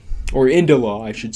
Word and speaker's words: Indila: to say India, but it's not India, it's Indila.